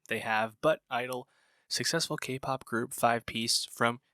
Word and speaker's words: (G)I-DLE: Dave here with a review of I-DLE's 6th EP, I Feel. Yes, I-DLE, the G is silent. Funny, odd name they have, but I-DLE, successful K-pop group, 5-piece